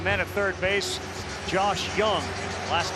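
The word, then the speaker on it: Jung: at third base Josh Young last name is spelled ju u n g but it's pronounced young and you got some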